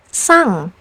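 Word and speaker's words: 상: But when placed at the end of syllables, it's pronounced as ng. Like in the word kung, which means a palace. Or the word sang, which means an award.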